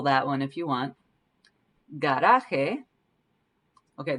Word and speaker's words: garaje: Garaje Okay, this is a hard G sound, G, but then the J in here sounds like an H. The J's always sound like H's in Spanish.